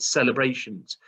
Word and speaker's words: celebrations: Now, again, it's a soft C. So instead of being a k, it's s, e, l, e, b, r, a, sh, s. That's right, celebrations. So these words here, again,